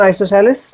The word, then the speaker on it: isosceles: ध्यान रखें, आइसोसेलेस triangle, pronunciation आइसोसेलेस, otherwise लिखने में आइसोस्केलेस ट्राइंगल।